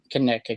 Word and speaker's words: Conecuh: What you would say, what is now Conecuh County.